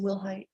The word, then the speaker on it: Willhite: And are you Willilhight? Yes, ma'am. Am I pronouncing your last name correctly? Yes, ma'am. Will height?